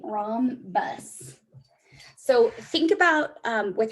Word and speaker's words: rhombus: this is a rom this h is silent rom bus so think about um